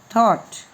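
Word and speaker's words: thought: में T silent था, तो यहाँ पर GH साइलेंट होगा। ये इसका उच्चारण हम नहीं पढ़ेंगे, तो इसको पढ़ेंगे थॉट, THERE there, WAS वॉज, SOME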